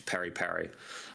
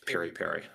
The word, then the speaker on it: piri-piri: Okay, so peri-peri and peri-peri is the name in different languages to pronounce. African bird's eye chili that's marinated. In Africa, tends to be known to peri-peri. Whereas the Portuguese way of marination is piri-piri.